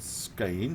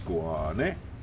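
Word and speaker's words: Skåne: It's not Skane, it's Squane, because of that weird little umlaut thing on top of the A.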